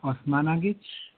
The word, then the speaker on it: Osmanagich: Osmanagich, and first of all, I'm not sure the proper pronunciation of your name. Could you please correct me on that? Dr. Well, Sam. you've been doing good. It's Dr. Sam Osmanagich.